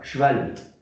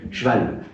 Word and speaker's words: cheval: Ça, c'est un petit E muet. On ne dit pas cheval. On le dit, mais c'est parce qu'on a des accents particuliers. Cheval. Je vais faire du cheval. On dit du cheval.